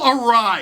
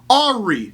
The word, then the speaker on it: awry: minutes went a little awry. Or as I mistakenly often pronounce it in my head when I read it in writing, Ari.